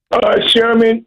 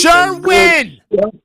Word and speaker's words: Sherwin: Sherman, that is Sherwin! Bob, listen to me. Sherwin. Say it with me. Say it first, 2 syllables. Sure. Say it. Say sure. Sure. Win. Win. Put them together. Okay, now listen. Sherwin.